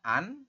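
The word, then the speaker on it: 앉: Vokal A ditambah dengan nien di akhir dibaca an, terus jiet di akhir dibaca t. Nah, kalau secara aturan yang belum paham, teman-teman mungkin akan membacanya anet. Tapi di sini menurut aturan baca kita bacanya adalah an.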